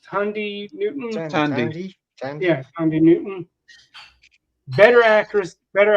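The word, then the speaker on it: Thandie: okay saying too much wait how is it pronounced it's Tandy right it's Tandy Newton yeah Andy Newton better actors better actors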